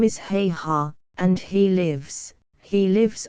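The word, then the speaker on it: Haigha: happy his name is heha he pronounced it so as to rhyme with Maya I love my love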